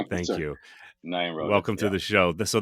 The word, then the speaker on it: Nyenrode: So the E, there's a little bit of an inflection at the end there, correct?